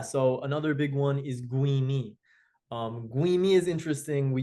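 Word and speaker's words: גוים: pronounced like o like goim um we would pronounce as u like guim.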